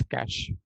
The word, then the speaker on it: cache: We pronounce as cache.